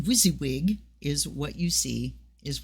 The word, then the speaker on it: WYSIWYG: probably know because you're hipper than me uh pronounced wysiwyg is what you see is what you get